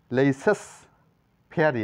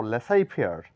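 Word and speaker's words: laissez-faire: লেটারের কোন উচ্চারণ নাই লেসেস ফেয়ারি না বলে বলবো লেসাই ফেয়ার এখানে জেড লেটারের কোন উচ্চারণ নাই লেসাই ফেয়ার মানে বাণিজ্যানুমতি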